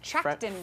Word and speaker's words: Trachtenberg: Danny Trachtenberg. Trachtenberg.